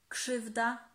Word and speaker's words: krzywda: And as you can see, the RZ we pronounce as sh, sh, krzesło, krzesło. Sło. And the same rule applies to krzak, krzyk, krzyk, krzywda, krzywda, and many more.